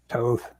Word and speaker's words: Toth: a bit toth toth how would you pronounce that it's tough toth definitely right well that's what barry says and barry's met him oh barry okay yeah